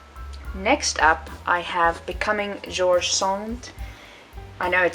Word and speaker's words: George Sand: up I have becoming George songs I know it says George sand but it's French so you're supposed to pronounce it pronounce it George song um she was yes